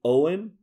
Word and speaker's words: Eoghan: Owen. If you look him up online, it's going to be Eoghan. So yeah, it's not going to look like Owen, but that's how it's pronounced. St. Owen.